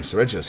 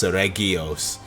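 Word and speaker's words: Seregios: And man, damn, Tsuregios hits hard. Man, I'm gonna keep using that soft G to the end of time, huh? Even though it's Tsuregios.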